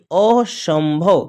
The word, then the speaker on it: असंभव: और स पर बिंदु सम भ व यानी असंभव क्या पढ़ेंगे अ जोड़ ऐसे है अ जोड़